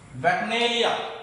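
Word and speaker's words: bacchanalia: नाउ the first word you have to study, that is वैक्नेलिया.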